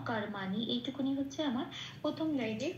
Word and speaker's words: কর্মাণি: তারপরে আছে কর্মাণি, কর্মাণিতে ময় রেপ আছে, রেপ থাকলে আমরা আগেই দেখেছি 3 নম্বরে তালিকাভুক্ত করে দেওয়া আছে, বা শূন্যরায় হসন্ত দিয়ে সেটা প্রতিস্থাপিত হয়ে যায়, করের সাথে জুড়ে উচ্চারিত হয় কর বলে, ময়াকারটা যেমন আছে তেমন রইল, আর নিটাও তাই, কর্মা নি।